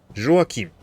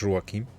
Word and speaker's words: Joachim: Joachim. Yeah, I guess in French you would pronounce this Joachim. But this name, we have this name in German as well, Joachim.